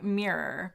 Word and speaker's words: mirror: how do you say mirror because some americans say it like it's one syllable yeah um i would say mirror is that right mirror um okay someone